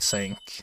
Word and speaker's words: Cinq: uh your comment that sink is pronouncing like sank and so I went to double check and you are right it is pronounced like sank so dude Good Start